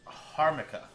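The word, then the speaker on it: jamaica: is so good albardo sells it pronounced harmica oh okay so it's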